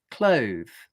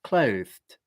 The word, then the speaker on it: clothed: So then to make it into the past tense, I just add a t to the end. Clothed. It's as simple as that. Clothed. Clothed. Okay. You can think of it as a t or a d, clothed,